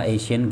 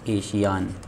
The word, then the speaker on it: Asian: हूँ आपके लिए पैरा एशियन गेम्स से रिलेटेड। बहुत ध्यान से इसकी नाम, इसकी स्पेलिंग को आप देख लीजिए, पैरा एशियन गेम्स, ठीक है ना। नॉट एशियान, एशियान नहीं, एशियन गेम्स, ठीक है ना।